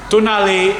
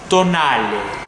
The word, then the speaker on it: Tonale: that's right so um please excuse me if i'm not pronouncing it correctly but i always believed it's meant to be pronounced as tonight now according to sources